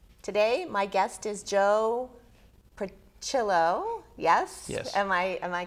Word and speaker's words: Prochilo: Today, my guest is Joe Prochilo. Yes? Yes. Am I correctly are.